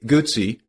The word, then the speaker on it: Guzzi: Grand Prix racing today Gucci pronounce it like pizza is best known for